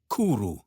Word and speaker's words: cwrw: W sounds like oo in moon. Try saying cwrw.